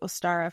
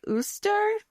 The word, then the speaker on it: Ostara: so in thanks to Ostara for saving her life. So, I looked up how to say this. It was like Uster or Ostara and later Ostara, the goddess of spring